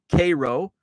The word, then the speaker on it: Cairo: southern tip of Illinois Cairo Illinois it's pronounced like the syrup Cairo but it's spelled the